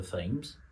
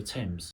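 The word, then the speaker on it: Thames: You just know it's not the river themes unless you're an idiot of course is the river temps.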